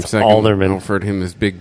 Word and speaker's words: Halderman: We'll just call him Alderman. Or You don't really pronounce the H on it, do you? It's not Halderman. You read his name second. Alderman.